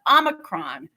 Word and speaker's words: Omicron: watched the news but according to the oxford learners dictionary saying o micron is actually okay um so yeah there